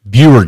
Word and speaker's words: Buer: Buer Games.